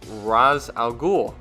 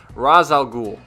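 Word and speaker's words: Ra's al Ghul: the same goes for how Shredder interacts with RZ Alou sorry I'm not used to pronouncing these Batman villain names so that one's a little tough razal ghoul seeing both characters on screen together put over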